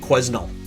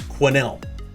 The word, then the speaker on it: Quesnel: from this town i've also heard this street pronounced quesnel quesnel quesnel it's quinnell quinnell another one in down in the inner